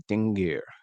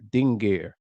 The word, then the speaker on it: dingir: So we see this first symbol here, or this inscription, is what's known as a dingir. A dingir. It's one syllable, and it's usually in